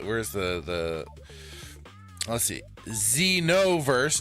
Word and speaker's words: Xenoverse: Xenoverse, not Zenover.